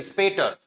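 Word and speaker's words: später: होगा भाई इसका स्पीटर एसपी का साउंड होता है स्प ए ए की मात्रा लग जाएगी टी का ट ई आर का अर तो ए ऑलरेडी है स्पेट यस सी यू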